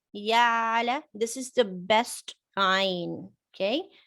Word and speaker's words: ع: Yeah, ayn, the way I pronounced is sharp. If you cannot do it that way, say yala, yala. This is also acceptable. What is not acceptable is changing ayn to hamza like ya'lamun.